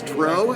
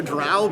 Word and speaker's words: drow: I mean, I would argue with anyone who says dro as opposed to drow, but that's not what this is about.